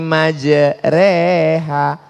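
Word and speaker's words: مجراها: ada cara membaca imalah Bismillahi majreha tulisannya majroha Tapi bacanya miring Bismillahirrahmanirrahim namanya imalah mal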